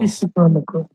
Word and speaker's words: psicólogo: মানে ওটা হালকা হয় যে হ্যাঁ, পিসিকোলগো মানে পিসি না, মানে পিসি মানে একসাথে, হ্যাঁ, পির উচ্চারণ হবে কিন্তু এরকম না সিকোলগো, psicólogo, মানে পিসিকোলগো, ওকে, পি হালকা পির উচ্চারণ হবে কি আরো, chiaro, sì, sì, ওকে, bene.